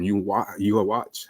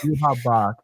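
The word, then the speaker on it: Yhwach: Yuha Bach. Yuha Bach. The spelling is so. Whew. Yeah, it is Yuha. Yuha. Okay, cool. The W is silent.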